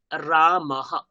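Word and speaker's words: रामः: হ্যাঁ এইটাকে আপনারা রাম আহ, হ্যাঁ, এটাকে অনেকে আহ আহ এরকম একটা বলে ফেলেন, কিন্তু আমরা প্রপার হয়ের উচ্চারণ করব, আহা। তাহলে টোটালি কি পাবো? রা রাম মাহা, রা মাহা, রা মাহা, রা মাহা।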